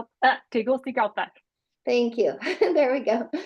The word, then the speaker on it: Tegucigalpa: Jess, do you know how to say Tegucigalpa.